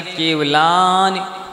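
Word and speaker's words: केवलानि: मनः पर्याय केवलानी ज्ञानम इधर ध्यान रखना है कि ला तो है दीर्घ इसलिए उसको आप खींच सकते हैं और ना में छोटी ई की मात्रा लगी है इसलिए कैसे उच्चारण करें केवलानी ऐसे उच्चारण करना होगा तो यह ज्ञान है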